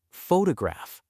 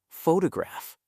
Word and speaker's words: photograph: Word stress means which syllable you emphasize in a word. Photograph, not photograph.